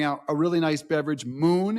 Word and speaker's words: Mxxn: Moon, it's spelled MXXN and Reframe.